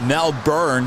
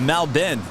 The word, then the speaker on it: Melbourne: say it now I used to call it Mel Bern I used to call it now born born